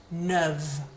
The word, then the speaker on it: neuve: Neuf, so different pronunciation, neuf, neuve. And masculine plural, neuf, and feminine plural, neuve. So we don't really hear those S's on the end.